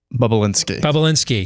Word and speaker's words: Bobulinski: How to pronounce it. Bobulinski.